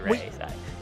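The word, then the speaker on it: Raeside: You can follow Hannah on social media at the Ray Side, and then that's spelled RAE Side for those who are listening to the program at the Ray Side.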